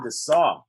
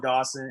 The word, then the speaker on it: Dassaw: my only correction for the night uh is pronounced the saw uh sorry about that it's close it's better than dawson it's better than thesaurus had a fourth grade